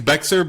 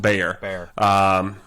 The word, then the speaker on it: Bexar: is bexar so it it looks like it's bexer but it's pronounced bear just like so the